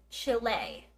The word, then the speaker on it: Chile: name and she says Chile which is the Spanish pronunciation of the country Chile Chile so I asked